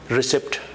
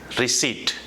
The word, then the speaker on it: receipt: of you must have mispronounces word as recipt but it's not that it's receipt and it's a written